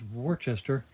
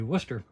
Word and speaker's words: Worcester: s t e r which I always pronounce Worchester until I found out it's supposed to be Worcester and so I thought